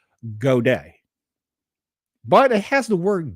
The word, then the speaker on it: Godey: Okay, so this word is Godey apostrophe S. So I'm pronouncing it Goday.